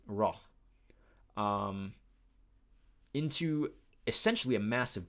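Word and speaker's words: Rauch: downhill into Raj or how would they pronounce it in Austria it's not Roush but it's it's raw um into essentially a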